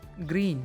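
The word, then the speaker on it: Gruene: supported primarily by tourism gruen a german surname pronounced green is now district within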